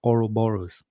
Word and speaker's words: Ouroboros: and by the way I was told that I'm pronouncing it wrong is Oro boros hopefully it's clear now